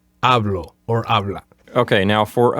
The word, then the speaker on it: hablo: The letter H is silent. So don't say hablo or habla. Say hablo or habla.